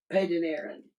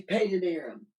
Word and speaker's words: Padan Aram: Padan Aram. Okay. Yeah, that's how you pronounce it. They went to Padan Aram.